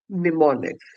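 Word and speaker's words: mnemonics: हैं assembly language में, निमोनिक्स। Very good. इसके आगे एक एम भी होता है, पर वो एम साइलेंट होता है, ठीक है।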